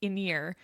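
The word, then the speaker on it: Irin: So I'm still a little confused by this, but they say it multiple times and it is pronounced inir.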